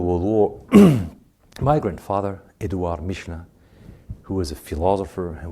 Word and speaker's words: Michelin: Michelin, we say in English? Michelin, the tires. Yeah, in French, say Michelin. I know it's not easy to pronounce.